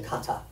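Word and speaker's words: κατά: comes from a Greek word Qatar everybody say Kata Kata how do you spell that k-a-t-a almost your name almost listen to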